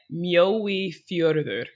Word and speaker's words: Mjóifjörður: Can you pronounce that one more time? Yeah, Mjóifjörður. Mjóifjörður.